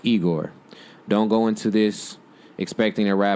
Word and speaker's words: IGOR: this is not Flower Boy, this is IGOR, pronounced IGOR.